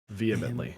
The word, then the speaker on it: vehemently: just expect a message uh v hip mittley vehemently yeah vehemently vehemently but it smell it's it smelled it's spelled like the intimate only yeah that word